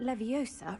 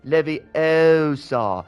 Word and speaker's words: Leviosa: It's Leviosa, not Leviosa. The wild Hermione is going to say it like you're saying it wrong.